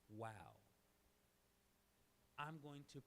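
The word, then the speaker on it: וָו: Then we have vav. It's vav in modern Hebrew, but in biblical Hebrew it's pronounced wow.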